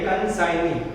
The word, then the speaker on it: consignee: When advance received from consignee, कंसाइनी नहीं बोलना बच्चों, जी साइलेंट है। और लास्ट में बोला कसाई, कसाई बोलता है, कसाई भी नहीं है, कंसाइनी, ओके।